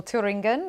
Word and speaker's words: Thüringen: And Markus, while we're speaking, viewers are seeing live images from a polling booth in Thuringia, or Thüringen, if you fancy the German, more German pronunciation.